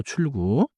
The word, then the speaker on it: 출구: Now 출구. Start with 출, then move cleanly into 구.